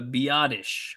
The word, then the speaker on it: Biadasz: Uh Oh, it's pronounced Okay, so the Carl the the correct pronunciation is the Biadasz.